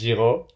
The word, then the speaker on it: Giraux: Is that The French pronunciation is Giraux.